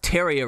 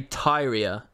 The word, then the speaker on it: Tyria: did he do wrong they pronounced teria wrong over and over and over again they say Tyria over and over and